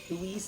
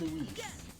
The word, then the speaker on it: Luis: because remember when um louise died he's like louis louis i'm like who the is that's luis let's see if they